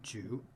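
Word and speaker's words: 句: right hand side and this character is pronounced ju it means sentence it used to be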